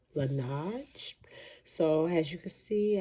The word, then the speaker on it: Laneige: Sorry if I'm not pronouncing it right, but I think it's pronounced Laneige.